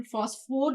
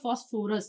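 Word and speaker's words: phosphor: हैं नॉट द फास्फोरस आपको फास्फोरस नहीं लिखना है एग्जाम में या कहीं पर भी या इंटरव्यू वगैरह में आपको फास्फोर बोलना है पी एओ इसकी स्पेलिंग आप देख लो अच्छे से पी एच ओ एस फास्फोर इट इज द फास्फोर नॉट द फास्फोरस फास्फोर का क्रिस्टल होता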